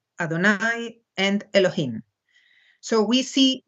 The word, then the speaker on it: Adonai: it must be noted that God's name is pronounced Adonai both by the Hebrews and by the Latins